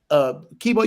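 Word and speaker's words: Keybeaux: So it's just Kibo. Just type in Kibo in my channel. Spell it out though, so because the way you spell is different.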